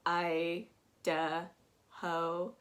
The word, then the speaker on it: Idaho: but i don't hear a lot about idaho i duh ho so um you can do without what you